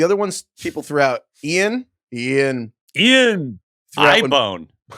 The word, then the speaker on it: Ian: Ian Ziering's name is pronounced Ian. And it was like I remember this being like a thing back in the day. He had to correct everybody who ever talked to him. Actually, it's Ian.